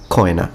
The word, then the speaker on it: cena: a minute, and then cena, or koina, if you want to use classical pronunciation with detached diphthongs, which would be dinner.